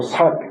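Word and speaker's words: 數: 그다음에 부유 수유 유전이 수라고 발음하지 않고 삭 자주 사이라고 그렇게 발음해야 합니다 이럴 때는 자주자주 유전하는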